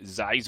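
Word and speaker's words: Zixor: He's got Dwarfven sharpshooter, fairy dragon, and uh he's got his new legendary Zizor or Zizor. I'm not sure how exactly to pronounce it. No, I think it's scissors. You got it right.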